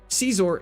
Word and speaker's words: Scizor: However, Caesar is the correct way that I pronounce it, and that's the way I'm going to pronounce it. Can I leave? Sizor. Scissor.